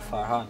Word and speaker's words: Farhan: His name is Farhan. But we pronounce it Farhan.